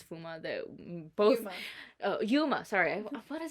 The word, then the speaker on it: Yuma: so I apologize for saying his name wrong it's Yuma Yuma oh I'm literally